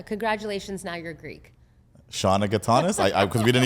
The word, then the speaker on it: Gatanis: I'm here with my friend Shauna Gatanis. Did I pronounce that right? Yes, I did. Yeah. Congratulations. Now you're Greek. Shauna Gatanis.